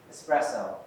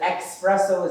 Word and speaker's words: espresso: There's an S, not an X. It's not espresso. I don't know what that is. Spanish for express, maybe. I don't know. The espresso is not a word. It's espresso. Okay?